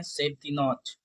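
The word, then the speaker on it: chef de nuit: करते हैं सेव द नच। ठीक है?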